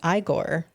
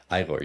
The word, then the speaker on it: Igor: This wasn't necessarily a question, but it was something we were talking about when the mouse on your game, his name was Igor. Igor, yes.